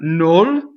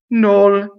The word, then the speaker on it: nol: Nol is no plus il, but it becomes closed. Nol, N-O-L.